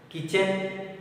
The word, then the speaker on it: kitchen: Kitchen. KITCHEN. Kitchen. We won't pronounce kitchen. Kitchen. Kitchen. Letter T is silent in that.